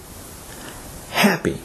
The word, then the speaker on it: happy: is pronounced table table the adjective happy is stressed on the first syllable and is pronounced happy happy rule number four stressed